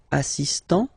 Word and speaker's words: assistant: much on the T assist so don't pronounce the final here but for the feminine form assistant okay assistant assistant all right